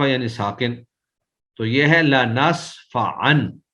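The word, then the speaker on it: لنسفعا: تو یہ ہے لنصفعن، یہ جو لنصفعن ہے عین دو زبر ان، تو یہ اگرچہ ہمیں تو تنوین نظر آ رہی ہے، کتابت میں یہ تنوین ہے لیکن نطق یعنی ادائیگی میں یہ تنوین نہیں بلکہ نون ساکن ہے، لنصفعن پڑھنے میں نون ساکن ہی ہے، تو اس کا معنی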